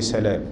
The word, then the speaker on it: سلام: طبعا احنا كنا قلنا على المؤتلف والمختلف، قلنا ان ايه سلام كلها بالتشديد الا ايه خمسة. مين هم؟ اولهم والد الصحابي اللي هو عبد الله بن سلام، نقول عبد الله بن سلام، ما نقولش ابن سلام، اللي هو ايه الصحابي.